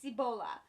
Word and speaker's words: Cibola: book i picked up sibila burn i finally know how to say it it is ebola burn um it's jefferson maze